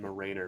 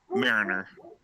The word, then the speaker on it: Mariner: It's like actually supposed to be pronounced Mariner, right? Mariner. Okay. Like, mariners from the Marines that were stationed aboard sailing vessels, or the Seattle Mariners.